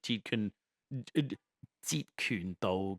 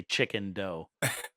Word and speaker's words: Jeet Kune Do: him to pronounce like Jeet Kune Do correctly because the joke about Big Sean, who was a Jeet Kune Do instructor, is that everyone said he would say chicken dough, like dough made of chicken.